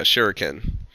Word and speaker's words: Shuriken: But it's Isn't it the Shuriken? Japan. Yes, there you go. I could just click on it and see. So it's called, yeah, Shuriken.